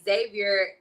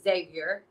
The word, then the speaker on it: Xavier: You don't pronounce the X.